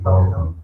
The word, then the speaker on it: Botham: Is his name pronounced Botham or Botham? I've heard of both. It is Botham.